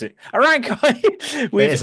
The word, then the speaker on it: Arankai: I never know how to pronounce it. Arankai. It is a Rankai, yeah.